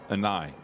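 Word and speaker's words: Ahni: An I. Is it? No, yeah, but that could an be I. Annie if the H is silent.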